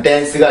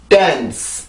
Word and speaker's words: dance: 플러스 시켜서 나오기 때문에 D 발음이 T 발음보다는 훨씬 더 세게 느껴지기도 하죠. 그렇기 때문에 그냥 댄스가 아니라 dance 이런 식으로 훨씬 더 세게 소리가 만들어지게 됩니다.